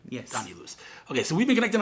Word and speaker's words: Illouz: decade uh so this is uh right I pronounce it right yes Danny Lewis Okay so we've been connected on Facebook forever